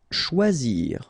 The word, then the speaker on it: choisir: Choisir. Okay, remember when you combine this C and H, you get the sound sh. And then OI, wa, okay, choix, and then zir, choisir.